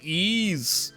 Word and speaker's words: Ys: But no, uh Nihon Falcom, they made ease. They made ease. They made ease. A game that took me many years to figure out how to pronounce.